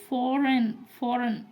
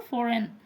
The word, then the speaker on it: foreign: इसको बोलते हैं फॉरेन। ठीक है, फॉरेन, FOREIGN, फॉरेन, इसको जी साइलेंट रहता है यहाँ पर, है ना, IG, फॉरेन।